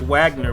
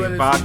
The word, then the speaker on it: Wagner: The W is like a V. Yeah, it's pronounced. It looks like Wagner, but they say Wagner.